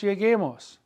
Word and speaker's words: lleguemos: You can't say double L-E-G-E-M-O-S, so it would be lleguemos. We must maintain the integrity of the hard G sound in the infinitive.